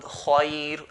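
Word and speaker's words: خير: Previous to that is a letter that has a fatha, like the word khair or dair. We pronounce the ra in a light manner. Khair, khair, dair, and so on.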